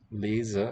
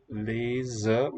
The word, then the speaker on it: lezen: Lezen, if it's between vowels, it's voiced z, spelled with z. And here next to the voiceless T, also in a coda, it's voiceless.